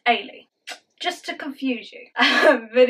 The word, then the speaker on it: Eilidh: first time but it's about e-i-l-i-d-h which is pronounced Ali just to confuse you